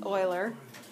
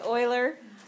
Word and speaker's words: Euler: we have seen before do you remember how to pronounce e l e r no it's Oiler it's Oiler um these are Oiler